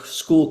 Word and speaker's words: Skool: So again, school has basically, I call it the school, the cool kind of school because it's spelled SKOOL.